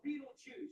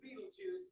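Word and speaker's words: Betelgeuse: It's called Beetle or Beetleju. You can pick your pronunciation. I'm obviously going with Beetleju.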